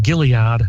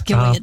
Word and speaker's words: Gilead: dispatcher uh in Mount Gilead about six miles away hope I pronounced that correctly it's gillad but that's okay Gilead okay uh had eventually